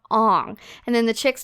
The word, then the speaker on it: Aang: Like in the cartoon, his name is Aang and they call him Ong.